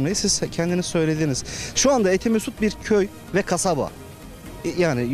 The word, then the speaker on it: Etimesgut: bunlarda Elvankent'te oturuyoruz diyorlar etimesgutu kullanan sadece merkezdeki eski Etimesgut'ta oturanlar bunlarda Etimesgut yerine etemesgut diyorlar Çünkü Etimesgut kelimesi Türkçe değil telaffuzu çok zor ve bir anlam ifade etmiyor buranın eski ismi zaten